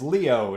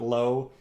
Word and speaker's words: Leo: It is Leo, not Low.